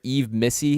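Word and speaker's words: Yves Missi: the kid from Baylor, Yves Missy is the way you pronounce his name.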